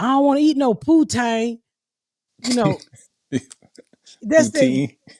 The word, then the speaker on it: poutine: I had pronounced and they were just laughing like, "How you pronounce it?" Poutine.